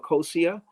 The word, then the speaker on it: Akosua: It came out in June of 2018, and it's called Akosia, and Akosua. The pronunciation is different from the spelling, but Akosia is a Ghanaian word, and means baby girl born on a Sunday.